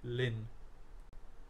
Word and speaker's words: ln: So this term is ln and is pronounced as lin.